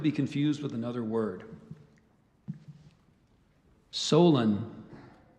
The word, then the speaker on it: Solon: homonym or could be confused with another word Solon it's a noun a wise and skillful law Giver or States person broadly a member of a legislative body Solen o have the definition Solon is a noun a wise and skillful lawgiver